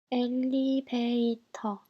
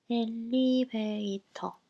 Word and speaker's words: 엘리베이터: 엘리베이터, 엘리베이터. The first L is doubled because it's stressed, and V is replaced with B, and the last R is dropped because it's unstressed and final position.